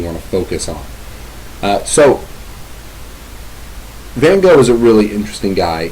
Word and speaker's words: Van Gogh: So Van Gogh is a really interesting guy in that we know quite a lot about him.